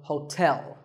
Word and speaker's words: hotel: number 12 is hotel there are two syllables ho and tell like the English word tell as in tell me the stress is on the second syllable so hotel a related word is